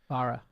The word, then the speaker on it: Barra: yes, this is Cadillac, and Mary Barra, is that how we pronounce the chairman of GM? Barra.